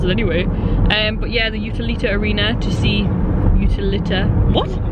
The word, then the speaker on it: Utilita: But we're on our way to the Utilita. It's the first time I've got it right, saying it once. Utilita? Oh, is that how you say it? That's awesome. Utilita.